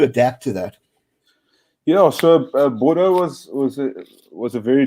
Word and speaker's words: Bordeaux: I know you went to the top 14 and played a few games there for Bordeaux. Excuse me if I'm not getting pronunciation right. Yeah, no, it's a town called Bordeaux.